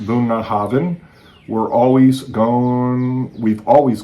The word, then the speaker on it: Bunnahabhain: Here at Bunah Havin, pronounced Bunah Havin.